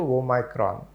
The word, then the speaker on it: omicron: we have come into omicron oh my god right this is o micron that is how in greek they spell it okay right prior to